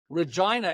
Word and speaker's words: Regina: know what it was Regina it rhymes with fun that's great okay yeah